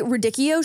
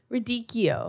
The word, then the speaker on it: radicchio: Wait, so how are you supposed to pronounce it? Radicchio. Radicchio. No dick. Radicchio.